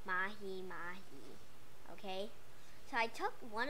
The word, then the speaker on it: Mahimahi: That's how you pronounce Mahimahi.